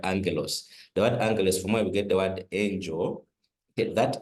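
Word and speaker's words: ἄγγελος: The second gamma is not pronounced as a as a g, but as an n just like in the word angalos.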